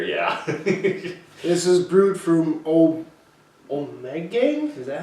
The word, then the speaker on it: Ommegang: This is brewed from Ommegang? Is that how you say it? Ommegang, yeah.